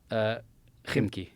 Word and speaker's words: Khimki: Kimki? Khimki.